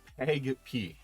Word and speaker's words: PAgP: negotiation protocol auto negotiation protocol is pronounced the peg p i just i have a problem saying that peg p it's written as capital p capital a lower case g capital p this is a cisco